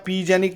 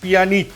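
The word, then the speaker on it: Pjanić: মানে তার উচ্চারণটা এক্সাক্টলি কি আমিও জানিনা এটা নিউমোনিয়ার মতো কিনা পি একটা সামনে আছে তার পাশে জে আছে তো জ্যানিক উচ্চারণ হবে না পিজানিক উচ্চারণ হবে আমি বলতে পারছি না উইকিপিডিয়া বলছে মিরালেম পিয়ানিচ তো যাই হোক এই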